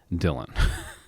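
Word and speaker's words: Dihlion: D I H L I O N. I think that's what I did. Yeah. So, that is pronounced Dylan.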